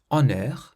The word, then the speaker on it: honneur: If you have a double M or a double N, there is no nasal sound. In the text we had these words. Honneur, honneur, meaning honour, so that had no nasal sound.